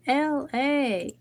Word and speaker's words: Elay: My name is LA, pronounced like LA, like the city I'm not from there, but I'm breezy, lali, and goddess.